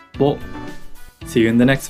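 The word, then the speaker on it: ぼ: Ho with the dakten is pronounced bo.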